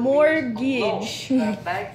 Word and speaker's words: mortgage: This word mortgage. Mortgage. Buy a house. Mortgage. So which letter is silent here? It's the T. Oh. The oh, mortgage. And the second is gitch, so mortgage.